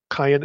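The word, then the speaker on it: Qayin: Q Y and Y the name is q-y-n cayenne and then the Y on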